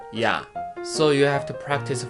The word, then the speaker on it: ㅑ: One thing you have to remember is diphthong is not 2 syllable. You have to pronounce it as 1 syllable. What I mean is, it is not iya, but ya.